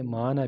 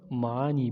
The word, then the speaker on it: معنیٰ: کی اقسام سیکھیں گے۔ یہ تلفظ میں معنی بھی درست ہیں اور معانی بھی درست ہیں۔ جس